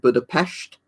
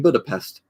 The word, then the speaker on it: Budapest: few times it's like when you pronounce Budapest you pronounce it but I passed because it makes like this noise um when you do the N bit of like the word so yeah that's the